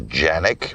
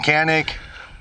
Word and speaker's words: Canik: Now, we both know uh the purest correct way to say the name is Janick, but everybody in the US calls it can cuz it's spelled GAN